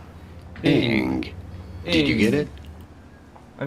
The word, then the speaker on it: Ng: In English, it is usually pronounced as Ing. Ing.